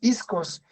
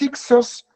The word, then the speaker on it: hicsos: dialecto de los egipcios isco Es perdón es h i k s o s pero se escribe ixos y los hicsos la traducción que se